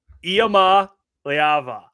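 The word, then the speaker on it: Iamaleava: I'll no no not in my book Nico iama leava yes said it right again that's Times by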